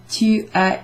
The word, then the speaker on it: tu as: Strangely though, you don't pronounce the S in tu as écouté.